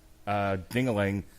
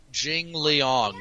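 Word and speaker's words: Jingliang: just use your eyes, jingling. How are we pronouncing that, by the way? Jing Liang, you heathen.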